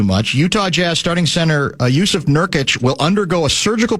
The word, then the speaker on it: Yusuf: Hey, real quick, an aside, how do you pronounce Nurkic's first name? It starts Yusuf. It is Yusuf.